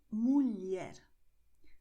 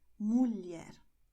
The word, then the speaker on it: mulher: And you have the combination LH with the sound of, well, L and E, a tiny E. So you're going to say mulher, mulher.